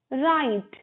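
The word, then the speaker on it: write: बॉक last है हमारा राइट राइट में हमारा डब्लू साइलेंट का यह हाउ टो राइट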